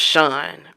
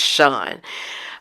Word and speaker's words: Shan: I think it's pronounced Sean. It's spelled Shan, but I think it's Sean.